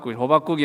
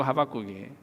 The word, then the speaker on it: 하박국: 하박국은 잘못 발음하면 호박국이 될 수가 있습니다. 그래서 주의하시기 바랍니다. 호박국이 아니고 하박국이에요.